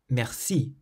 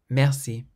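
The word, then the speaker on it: merci: pronounced the word Meri the French native speakers clearly emphasized the last syllable Meri Mercy whereas the non-french speakers were emphasizing the first syllable a little more mercy and it just made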